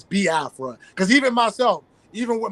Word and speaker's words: Biafra: how to pronounce it some people say B Afra because they don't really you know overstand the you know the pronunciation when it comes to the i e sounds but it's B Afra because even myself even